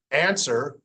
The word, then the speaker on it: answer: When it's in the middle, now this W here, answer, the W is silent, so it doesn't really affect the letter S at all.